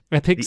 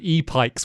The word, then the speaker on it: Epyx: Epics, is that the way you pronounce it? Okay. Yeah. Oh God, I'd have probably said E-Pikes, which would have sounded even worse.